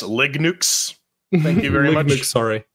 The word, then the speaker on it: Linux: to Yes uh Pedro it's pronounced Lig nukes thank you very much